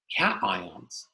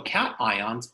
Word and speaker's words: cation: Number one, we have cations. No, it's not pronounced cation, it's a cation.